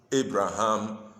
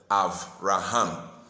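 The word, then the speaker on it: אברהם: You know, we normally pronounce it Abraham or Abram, but the Hebrew way of pronouncing it is Avram and Avraham.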